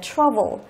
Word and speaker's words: trouble: Đó, trọng âm rơi vào âm thứ nhất. Chúng ta đọc là trouble. Đấy, như vậy câu này đáp án là gì?